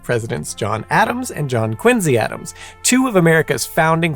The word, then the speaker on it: Quincy: President John Quincy Adams is supposed to be pronounced Quincy not Quincy in any event ever wondered where the story